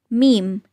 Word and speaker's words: meme: Yes, it's meme. Meme. We say pronounce, pronounced, but we don't say pronunciation.